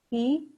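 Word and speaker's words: 呵: associated with the liver he pronounced like her with the yawn which is associated with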